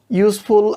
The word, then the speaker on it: useful: Useful umbrella, useful. So এটা কিন্তু আমাদের ভাওয়াল ইউটা, কিন্তু উচ্চারণটা কিন্তু আমাদের ইউ এর মতো, like first sound is like Y, consonant, সে কারণে কিন্তু আমরা